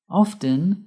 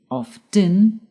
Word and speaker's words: often: Often can be pronounced two ways. By pronouncing the t often or by not pronouncing the t often. Both forms are correct and depend on where you live.